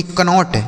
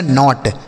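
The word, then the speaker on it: knot: लिखा जाएगा इसको के एन ओ टी कनोट। लेकिन पढ़ा जाएगा नॉट।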